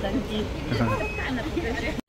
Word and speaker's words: Dunki: तो आई was pronouncing wrong, डंकी नहीं है, डंकी है, डंकी।